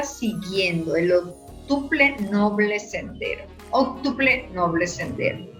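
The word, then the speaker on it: óctuple noble sendero: Octuple noble sendero, así es que se pronuncia.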